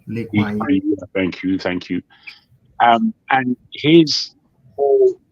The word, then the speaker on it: Lee Kuan Yew: leader they had in Lee Jong Kui. I think I've mispronounced his name. Lee Kuan Yew.